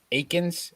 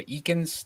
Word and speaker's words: Eakins: 10th there coach by Dallas Akins or eakins depending on how you want to pronounce it and cup odds 50 to 1.